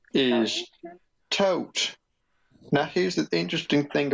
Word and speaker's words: Thoth: bird his name is Thoth now here's the interesting thing about toads his name is pronounced thought like you know begone salt kind of thing but what happened a